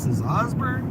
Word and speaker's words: Osborne: headed into Augsburg Osborne Kansas of course it's spelled o-s-b-o-r-n-e and of course people call it Osborne yeah they pronounce everything